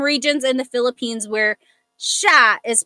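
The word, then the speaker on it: siya: Okay, Janica said okay. So I think Janica is asking about the pronunciation of sha.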